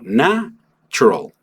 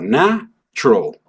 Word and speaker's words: natural: De nuevo, me cargo hacia el final de la palabra y aquí tengo natural. Y aquí la bronca es que las personas traten de pronunciar tu iral completo, todas sus letras, todos sus fonemas. Y en inglés no hacemos eso. ¿Por qué? Porque justamente le doy énfasis al principio y al final solamente hago natural. La U prácticamente la voy a eliminar y nada más voy